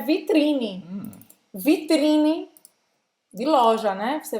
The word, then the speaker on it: vitrine: E não vai falar esse E no final da palavra, tá? Termina a pronúncia no N, mas não vai falar vitrine. Precisa alargar essa língua para terminar a pronúncia.